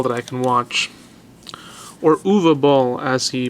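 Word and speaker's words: Uwe Boll: I can watch or UA ball as he pronounces it apparently the word uh the letters u w pronounce UA in German but to me it's ooie ball it's funny this movie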